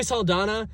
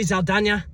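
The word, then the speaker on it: Saldaña: the fact that Zoe Salana, Sam Worththing, Zoe Salana, Zoe, Zoe Zaldana, you got Yeah, you got to put that accent on the end.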